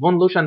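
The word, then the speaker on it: von Luschan: فون لوشن ده يمكن النطق ده الماني هو اسمه كده.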